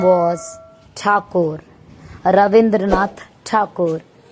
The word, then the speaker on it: Thakur: Rabindranath Thakur. Thakur was difficult for British officials to pronounce correctly, so it became Tagore in English documents, writings, and public references.